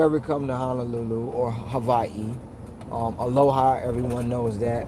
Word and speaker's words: Hawaii: of the alphabet the the W in Hawaii is not really a w it's two v's connecting together and they pronounce the pronunciation fori is actually Havi um America started calling